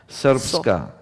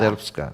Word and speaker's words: Srpska: Srpska. Yeah. Srpska.